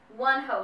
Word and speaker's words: Wonho: google of him saying one hoe like one the number one and hoe